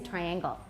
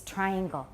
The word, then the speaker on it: triangle: the noun pronunciation but it's almost a hundred percent in Taiwan English people say triangle it's coming from somewhere so please know it's triangle triangle triangle triangular triangle yeah rectangle rectangle